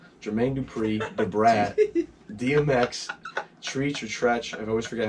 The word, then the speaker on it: Treach: Dupri, Da Brat, DMX, Treach or Tretch. I always forget how to say his name. Do you know Naughty by Nature? Tretch. Is that Tretch? Yeah, Tretch. it's Tretch, like treacherous, right?